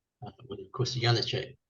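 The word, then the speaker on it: Janáček: Well, of course, Janacek is spelled with a J, but in America, Nice one, Graham. Nice Yeah, one. yeah, okay. Well, this is Leos Janacek with a J, but really with a Y.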